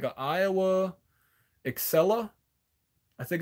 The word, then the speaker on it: Aiwa: And if you the best cassette deck, it's like an Iowa Excella, I think it's called. Yeah, AIWA, and then it's spelled EXCELLA.